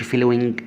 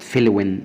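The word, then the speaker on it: flowing: طبعا بالنسبة فلون ما اقولش فلوينج، فلوينج لا غلط، فلون فلون. يبقى إذا يا جماعة على مسؤوليتي، ماي ريسبونسابيلتي، أي كلمة فيها حرف جي في الآخر كأنه مش موجود، كأنه مش موجود، يكتب ولكن لا ينطق.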